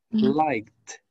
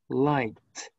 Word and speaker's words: liked: Por lo tanto, su ED se pronuncia como una T. Liked. Liked.